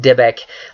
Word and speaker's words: Dybbuk: There is a very interesting idea of exorcism in the Judaism or in the Jewish faith that deals with what I believe is pronounced Dybbuk, D-Y-B-B-U-K, and this idea